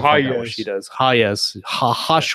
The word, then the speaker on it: Hayes: Hayes. Hayes is how you pronounce it.